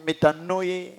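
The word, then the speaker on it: μετάνοια: Métanoia. Le métanoia là. Métanoia. Certains parlent de métanoïa. Ce qui est vrai, ce sont des verbes. Lorsqu'on conjugue ça, on peut prononcer ça autrement.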